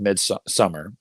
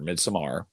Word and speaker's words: Midsommar: I was not a fan of Midsummer or Midsommar. I don't, however you pronounce it. I know people say both.